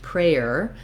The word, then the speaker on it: prayer: difference here is that even though it looks like the word pray plus prayer, we don't actually pronounce prayer typically in American English. We reduce this to more like one syllable.